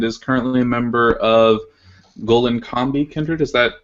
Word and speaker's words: Gollinkambi: Um, he's been involved with several heathen groups and is currently a member of Golen Combi Kindred. Is that how you pronounce that?